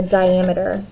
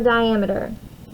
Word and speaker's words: diameter: That is called the diameter. So I'm going to turn this real quick. Some people accidentally pronounce it sometimes or mispronounce it as diameter. It's diameter. Diameter, not diameter.